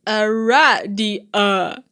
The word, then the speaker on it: Aradia: It is pronounced Aradia.